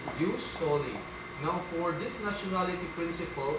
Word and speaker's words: jus soli: We do not pronounce this as Jews, no? But use, why? Use solely.